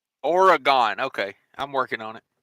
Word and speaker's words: Oregon: Dan's Trucking and Outdoor Adventures says evening from a TA in Oregon.